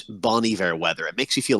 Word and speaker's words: Bon Iver: up okay so that I was I was pronouncing it wrong I said Bon Bon Iver I someone else that's what you would think yeah so yeah bony ver is Justin Vernon so Bon ver is means